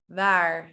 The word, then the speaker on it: waar: They're like waar, wie, wanneer, waarom. So if you notice my lips, it's actually, what happens is that my lower lip touches my teeth and it becomes waar, wie, waarom.